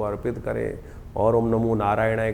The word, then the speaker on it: नारायणाय: का प्रयास करें जब मंत्र का उच्चारण बिल्कुल सही होना चाहिए कई बार लोग मंत्र का जप करते करते थोड़ी सी गलती कर देते हैं नारायणाय नारायणाय नारायणा नारायणाय नारायण नाराय नहीं है नारायणाय ओम नमो नारायणाय इस